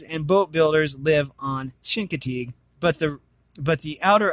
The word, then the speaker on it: Chincoteague: oh here we go I am pronouncing it wrong sorry guys / Shin Co Teague Chincoteague pronounced Chincoteague it has pronunciation thankfully